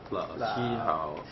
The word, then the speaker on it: 老师: 老师好. Okay. Yeah. Okay. Rob, you said 老师好. 老师, you have to roll your tongue.